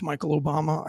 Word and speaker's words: Michelle Obama: his name wrong. I said it wrong. It's Michael Obama.